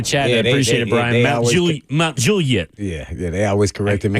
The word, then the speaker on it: Mount Juliet: was a weird one, but Mount Juliet, not Mount Juliet, Mount Juliet. Oh, yeah. Someone else just put that in the chat. I appreciate it, Brian. Mount Juliet.